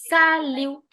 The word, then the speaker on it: salut: salut, because T is silent.